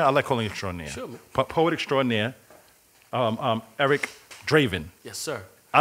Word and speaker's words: Eric Draven: so did I say it right yes sir Eric Draven and in your middle name is crowd crow